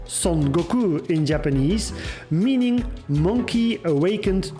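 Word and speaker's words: 孫悟空: earning him the religious name of Sun Wukong, pronounced SonGoku in Japanese, meaning monkey awakened to the void.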